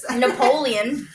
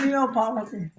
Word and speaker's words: Neapolitan: Napoleon. Napoleon. Yeah. Woo! Wrong phone. Where is it? Right here. T-N it is. Tan. At the end. But it's Neapolitan.